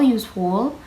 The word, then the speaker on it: useful: Example useful is stressed on the first syllable.